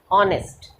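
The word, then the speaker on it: honest: ऑनेस्ट, H silent है इसमें.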